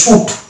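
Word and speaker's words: suit: তারপর এটা হচ্ছে শুট, এটা সুইট নয় শুট, তাহলে এই শুট এবং এটা হচ্ছে ফ্রুট, এই 3-4টা শব্দেই আমরা আইকে সাইলেন্ট সচরাচর দেখতে পাই।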